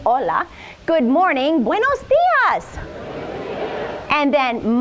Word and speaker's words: hola: it goes like this hola got that down pat H is never pronounced in Spanish go straight to the Ola good morning Buenas and